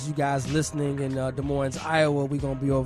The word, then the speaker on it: Des Moines: what something silent right I think the S is silent yeah good morning okay Des Moines Moines like you're noise 15:01 Grand Avenue des